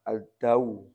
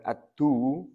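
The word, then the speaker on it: الدَّوْ: Ad-daw. Bacanya ad-daw. Bukan ad-du, bukan ad-diw.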